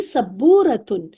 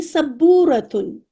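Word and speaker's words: سبّورة: हाँ, सब्बू, बा पे शद भी है। हाजिही सब्बूरतुन, क्योंकि हम वोकैब सीख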